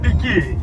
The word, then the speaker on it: pequi: experimentar pela primeira vez piqui piqui ela chama de piqui porque é pequi que se escreve então É pequ mas para os nativos forma correta da pronúncia é pi então se você também